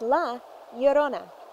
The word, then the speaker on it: La Llorona: She said it's pronounced La Llorona.